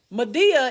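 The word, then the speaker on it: Madea: Mabel Mabel Simmons right Medea is what a country term for that when you say my dear real fast my dear right so when you're calling somebody your Medea is usually your grandma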